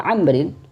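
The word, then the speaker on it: عمرو: Umar ada Abdullah Ibnu Amrin sama-sama sahabat ya dan yang membedakan adalah wau yang ada di sini Jadi kalau setelah lafaz Umar ini ada wau maka dibacanya Amrin ya kalau tidak ada wau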